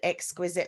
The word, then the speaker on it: Xquizit: i chose it um it's x and it's quiz as in you know you do lots of quizzes and you help children